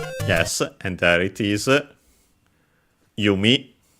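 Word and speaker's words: 弓: Yumi. Pretty sure it's accent. It's either accented on the last one or unacented.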